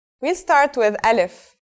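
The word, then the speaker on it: ألف: we'll start with Al if so what sound does this letter make that's easy it's just like its English counterpart a in the word Apple Al if is very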